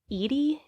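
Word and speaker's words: Eady: debbie nix his sister i think it's pronounced edie it's e-a-d-y yeah that seems great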